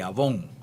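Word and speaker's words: עָוֹן: también interesante que es se escribe abel y avon como como ese producto que algo ustedes conocen se refiere es esta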